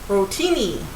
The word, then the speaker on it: rotini: pasta called uh well there's different ways to pronounce it you call it Rony uh Rony uh r o t i rotini okay so however you pronounce it or however you want to pronounce it that's what it is because there's lots of different ways to pronounce this pasta it looks like little